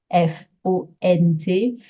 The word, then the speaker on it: font: Remember that the T in silent position in a word, F-O-N-T, font, we don't say the T at all.